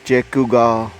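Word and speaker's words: Shequaga: तो इसका नाम है, इसको प्रोनाउंस करते हैं चेकुगा और स्पेल करते हैं शेकुगा फॉल्स, शेकुगा फॉल्स।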